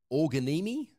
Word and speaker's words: Organimi: one tool is organi it's spelt o-r-g-a-n-i-m-i it's kind of like a play on the origami word but it's for organizations